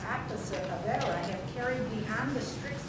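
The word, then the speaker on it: עבירה: Okay, because I'm hearing a Yiddish pronunciation, so it's not exactly like that. No, Avera.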